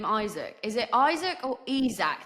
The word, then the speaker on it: Isack: Honestly, I mean, I know my name is Isack because Isack, perfect. it's how I've been called my whole life. But, you know, like, I know Isack is the British way or English way to say my name.